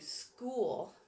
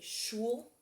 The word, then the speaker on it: school: You could say it like Megamind says it and say shul, but that's not right. So you want to put SCH, makes a sk, ool, sk, ool, school, SCHOO, makes oo, L, school.